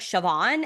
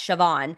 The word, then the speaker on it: Siobhan: How do you say this name? There's a B and an H and all this. And I was like, Siobhan.